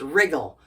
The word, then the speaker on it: wriggle: and we get Riggle now the W is silent and it's wriggle what is Riggle wriggle